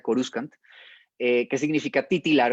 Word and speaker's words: Coruscant: dato curioso la palabra cursan corsán viene realmente del verbo latino chorus co si uno pronuncia la cursan bien sería coruscant que significa titular o